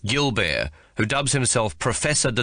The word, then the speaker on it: Gilbert: CD 3 Her master of dancing is the ancient Monsieur Gilbert, pronounced Gilbert, who dubs himself professeur de danse and has become a living institution in Hobart.